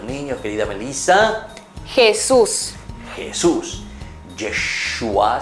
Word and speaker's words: Yeshua: Yeshua se dice en hebreo. Yeshua, que la traducción en castellano quiere decir Jesús. ¿Cómo se dice entonces Jesús en hebreo? Se dice Yeshua.